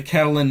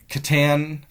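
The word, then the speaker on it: Katyn: Well, the Soviet Union made the situation worse because instead of saying the Catalin m the katan I'm saying Catalin. I'm adding an L into it.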